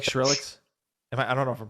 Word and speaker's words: Skrillex: kind of leaned towards yeah do you like shrillics i don't know if i'm pronouncing it okay yeah skrillex that's it yeah my son likes the reptile